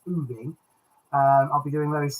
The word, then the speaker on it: Oving: I'll be doing Boxgrove, Tangmere, and I've been reliably informed that the other one that I called Oving is actually pronounced Ooving.